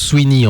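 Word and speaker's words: CYNHN: C-Y-N-H-N, C-Y-N-H-N, je crois que ça se prononce Sweeney en réalité.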